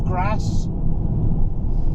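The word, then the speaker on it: Grasse: We're getting on some proper little wiggly roads up towards Grass. That's not me putting on a northern accent, that is how it's pronounced, I believe.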